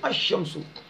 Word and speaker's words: الشمس: حرف شمسی ہو تو الف لام کے لام کو حرف شمسی میں مدغم کر کے پڑھیں گے، یعنی ملا کر پڑھیں گے، یعنی لام کا تلفظ نہیں کریں گے. جیسے الشمس.